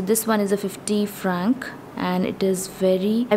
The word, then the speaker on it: francs: So this one in French is 5 francs, that is 5 franc. This one in French is 25 francs, that is 25 franc.